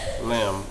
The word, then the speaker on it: lamb: wreath wreath what's this silent B name lamb read that it's your